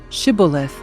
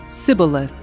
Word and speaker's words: Shibboleth: If the man said, "No, I am not," they would tell him to say "Shibboleth." If he was from Ephraim, he would say "Sibboleth" because people from Ephraim cannot pronounce the word correctly.